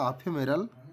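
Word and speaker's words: ephemeral: নিয়ে আলোচনা করি চুজ দা সিনোনিম অফ আফেমেরাল উচ্চারণটা এখানে করবেন আফেমেরাল আফেমেরাল শব্দ এর কি সমার্থক শব্দ এখানে আছে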